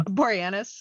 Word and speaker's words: Boreanaz: Boreanaz, yeah.